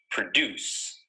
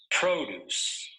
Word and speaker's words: produce: remember the verb form of the word is pronounced like this produce and the noun form of the word is pronounced like this produce listen to the difference produce produce produce produce